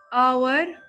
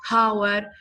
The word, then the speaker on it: hour: no H but here the H is silent so I do not say it Howard I say it our so you cannot tell